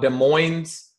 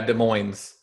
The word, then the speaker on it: Des Moines: particular city oh yeah Des Moines Des Moines okay I don't think we pronounce the S with Des Moines probably you you pronounced as I don't think you're supposed to pronounce that I don't I'm not